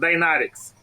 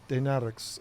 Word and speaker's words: Dinaric: name is dinaric so we pronounce dinaric dinaric okay gotta roll that R that's tough for me